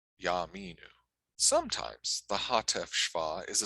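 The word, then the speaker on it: יַאֲמִינוּ: placed next to it it should be pronounced like a quick ah so a shorter patak so yaminu yaminu sometimes the hateful is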